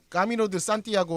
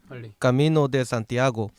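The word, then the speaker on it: Camino de Santiago: 좀 보여 주시겠어요 그 염원을 가지고 가졌어야 없이 까미노 드 산티아고 라고 저는 스페인은 모르니까 이거 발음 발음 좀 있어요 까미노 데 산티아고 아 아 아 알았 좋아하는거 아냐 4달러 와줘요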